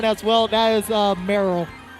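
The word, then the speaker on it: Marill: well that is uh merrell merrell yeah like meryl streep yeah in a way because it's spelled m-a-r-i-l-l merrell dude the world of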